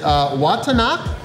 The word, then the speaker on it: Vattanac: It is Watanak. Which apparently the V is pronounced as a W here.